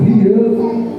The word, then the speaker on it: Hiel: Hiel, que é a pronúncia do hebraico, Hiel, tentou reconstruir, e a cobrança, 1 Reis 16, versículo 34.